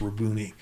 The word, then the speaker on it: Rabboni: That's how it's pronounced, Rabboni.